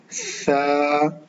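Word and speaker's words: ث: This Tha is little soft, not like whistle sound, like seen sound. This Tha is soft letter. You can pronounce, start using tip of tongue touching edge of front two teeth.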